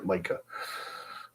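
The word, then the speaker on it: Mieka: micah i think and it was m-i-e-k-a m-i yeah m-i-e-k-a and she said so you know pronounced micah yeah whatever so anyways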